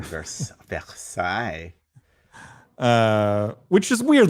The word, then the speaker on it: Versailles: Oh, look at you with that pronunciation, Versailles.